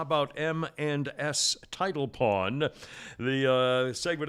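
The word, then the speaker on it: M&S: and s title pawn i say it like that because it sounds like eminence and it's really it's spelled mans and i'll get to that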